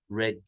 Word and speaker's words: read: and past participle read red red we write it read but we pronounce it red I will clean the